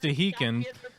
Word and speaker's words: Stehekin: It's pronounced Stehekin.